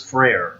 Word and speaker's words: Frere: But my last name is Frere, and it's spelled just like prayer, but with an F.